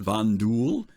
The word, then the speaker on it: Vanduul: more depth here uh the vanduul pronounced vanduul are a race in star